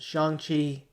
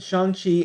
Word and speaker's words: Shang-Chi: First of all, I want to take a look at the trailer for, I believe it's pronounced Shang-Chi and the Legend of the Ten Rings.